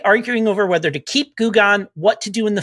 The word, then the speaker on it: Goo Gone: slime named goo gone pronounced gu g-o-o gone g-o-n-e goo gone living in our paladin